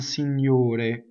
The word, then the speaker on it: signore: Da gran signore. Da gran. See, so double G. Gran. The R rolls because it touches a consonant. But signore, ore is a closed O and single R.